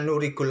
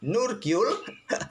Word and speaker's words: Nurgyul: Saya lebih suka membacanya Nurigul kawan, karena lidah admin lebih gampang membaca Nurigul ketimbang Nurgyul.